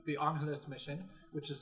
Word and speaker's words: Angeles: It's the Angeles mission, which is spelled the same as Los Angeles, except you say Angeles is how it's pronounced.